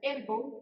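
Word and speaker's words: ἔργον: Como decíamos, la palabra obra viene de un término que se pronuncia ergon, que significa trabajar, esfuerzo, acción o hacer.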